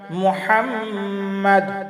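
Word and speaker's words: محمد: ওয়ালা আলি মুহাম্মাদ মুহাম্মাদ মিমের উপরে তাসদিদ আছে, এখানে গুন্না হবে।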